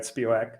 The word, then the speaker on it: Spiewak: like quick story of jared spiwak am i saying it correctly still i don't think i am mate yeah yeah yeah no you're good and um so can